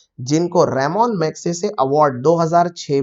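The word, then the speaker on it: Ramon Magsaysay: बातें दोस्तों तो यह बहुत से बच्चे इसको रेमन मैगसेसे रमन रमन हमारे साइंटिस्ट उच्चारण करते हैं और यह उनका इससे कोई लेना-देना नहीं है है रेमन मैगसेसे के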